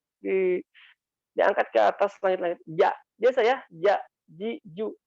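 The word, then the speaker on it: ج: Saya amati para penyanyi kalau baca jimnya itu begitu, idza jaa, ya. Itu contoh yang kurang tepat. Yang tepat itu adalah pengucapan ja dari tenggorokan bagian tengah, ja, diangkat ke atas langit-langit.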